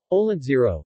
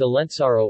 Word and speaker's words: Olentzero: olan zero vast pronunciation oleksiy Oh sometimes Alan sorrow or Olin sorrow is a character in Basque Christmas tradition according